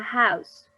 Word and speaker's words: house: also here a house this letter h is not silent noise in this case is like a letter j a house en esta funciona como